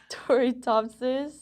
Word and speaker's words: Turritopsis: Toritopsis.